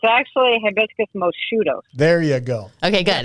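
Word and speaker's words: Hibiscus moscheutos: name here a minute hibiscus and is it pronounced mosquitoes as in the insect what is it Laura that would be that would be pretty cute but it's actually hibiscus mudos there you go okay good that's what I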